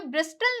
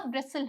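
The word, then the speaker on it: bristle: यहाँ पे ब्रिस्टल नहीं होता, ब्रिसल होता है, ठीक है।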